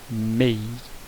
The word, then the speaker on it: May: Apesar de estar escrito com A, pronuncia May.